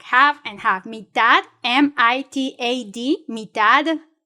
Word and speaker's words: mitad: Mitad y mitad. Mitad, mitad, so that means like you can choose 2 flavors. Mitad y mitad. Like half and half. Mitad, M-I-T-A-D, mitad y mitad.